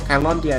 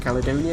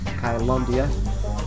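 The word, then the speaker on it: Caelondia: Kylondia, I think it's the pronunciation they have in the game for this. I've already forgotten it. It is not, as I wanted it to be the first time I played with Caledonia.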